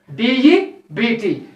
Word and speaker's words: debt: So coming to the last example, DEBT. Here, that should be pronounced. Here also, B is the silent.